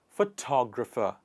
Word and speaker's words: photographer: But This person who takes photography, who's interested in photography, is called photographer. Photographer. If you see, in these two words, the stress is actually on the same parts of the word.